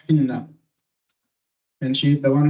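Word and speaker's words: حنة: In Arabic it's pronounced Hinna.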